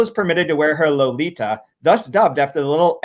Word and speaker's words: Lolita: permitted to wear her Lolita, thus dubbed after the little Andalusian gypsy of that name in Osberg's novel, and pronounced, incidentally, with the Spanish T, not a thick English one.